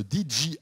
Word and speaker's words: DJI: va parler de drone le dji c'est comme ça qu'on prononce exactement dji le dji mais auparavant